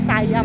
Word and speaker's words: Siam: w i signature outt siam sayam Actually ang pronunciation is sayam hindi condo lang siya